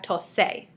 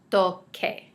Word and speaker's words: toque: And without the QU, we have tose. So we want it to keep the hard C sound, toque.